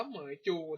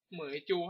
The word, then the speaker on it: Meizu: CL me นะ ครับ ก็ อ่าน ว่า เหมย จู นะ เหมย จู ครับ แต่ เพราะ ว่า มัน